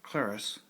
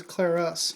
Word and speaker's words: clerus: Yeah, notice it doesn't say cleric, it says clerus, yes. Which of course is the proper way to say that in Latin.